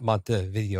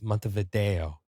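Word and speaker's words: Montevideo: I was like, Dave, it's not Mont video, it's Mont Vido.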